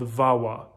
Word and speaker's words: VAWA: and this particular green card option is called vawa it's spelled v-a-w-a and it's the violence against women